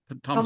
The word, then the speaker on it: Thomas: You pronounce his name in French. I can never do it, but Thomas. Thomas. Yeah, Thomas. Thomas. In French, the last letter is always quiet.